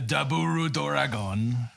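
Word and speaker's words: ダブルドラゴン: elaborate so um uh double dragon in japanese pronounced uh a duburu doragon yes yes it is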